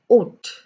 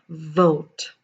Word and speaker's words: vote: more thing is vote i have heard people saying saying this as oat which is totally incorrect it is not it is in fact vote remember this it is vote and it is develop